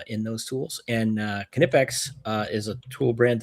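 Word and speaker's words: Knipex: But they've got a that's it's another Kipex is another and it is pronounced Kipex apparently.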